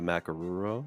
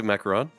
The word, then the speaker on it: macaron: this wrong but the macaroon macaron macaron is it macaroon or Ron macaron macaron no macron is the French President macaroon is so it is a macaron is it macaron no that's yeah it's